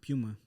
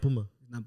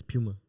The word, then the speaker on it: Puma: and then I worked at Puma Puma it's pronounced Puma is it really not a lot of people know that but it's Puma but it's not Puma it's Puma what the yeah the managers